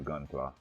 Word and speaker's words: Gunpla: Okay, it is Gunpla.